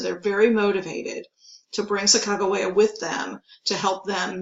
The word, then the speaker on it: Sacagawea: So she will go with them, Sacagawea. You may have heard her name Sacagawea, but the more accepted pronunciation today is Sacagawea.